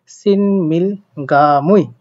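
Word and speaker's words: 친밀감: আমরা গ পড়বো তো এটার উচ্চারণ হবে সিনমিল গামুই সিনমিল গা মুই যেটা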